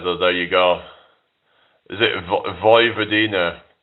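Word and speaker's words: Vojvodina: Is it Voy Vadina? So the J is pronounced as a Y, right?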